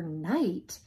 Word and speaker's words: knight: G is for gnat, K is for knight, P is for pterodactyl. What's going on here? Did you know that there are some really wacky words that start with a silent letter?